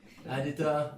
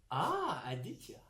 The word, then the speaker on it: Aditya: There's a Y after the T. Aditya. Oh, thank you. Sorry. Aditya. But I still pronounce Aditya. You can pronounce the ya also, like it's like a yes or a ya.